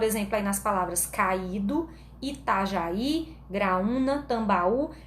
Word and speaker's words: Itajaí: Gente, esse já tá acentuado do Itajaí, mas foi só um errinho aqui, né? Na verdade, o acento é no I, tá?